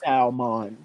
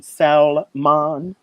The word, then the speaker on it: salmon: Or when people say they actually pronounce the L in salmon.